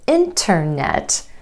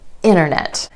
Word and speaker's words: internet: Vanishing T after the N sound in words like internet. So instead of internet, you'll hear a native speaker say internet.